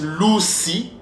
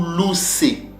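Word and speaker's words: ראש: Ces mots-là se prononcent Lucy ou Lucé.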